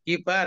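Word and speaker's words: كبار: Kibar ya, kibaron. Kibaron. Nah, kalau baknya panjang ada alifnya itu bacanya kibar.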